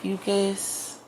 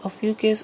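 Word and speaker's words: Ophiuchus: you can easily Google ucus okay there's another way to pronounce it and I want to make sure I'm saying it right or Aus right so it's spell o p h i u c h u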